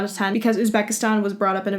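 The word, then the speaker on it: O'zbekiston: It's supposed to be pronounced Uzbekistan, but I know that a lot of people aren't capable of pronouncing it that way, so Uzbekistan is just fine.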